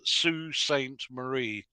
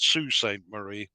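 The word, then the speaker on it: Sault Ste. Marie: how to say this a Canadian gentleman told me it's Sue Saint Marie or other but it seems to be spelled salt stain Marie so apologies to anybody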